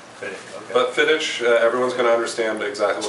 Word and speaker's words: Fiddich: most people uh pronounce uh in Scotland we pronounce it more of a fidic fic okay but fidic everyone's going to understand exactly what you're saying